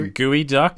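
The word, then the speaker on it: geoduck: please use your phone to look up was gooey duck yeah it's spelled g e o du u c k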